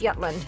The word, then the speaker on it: Jutland: Jutland is pronounced Jutland. Yep. The J is pronounced with a Y.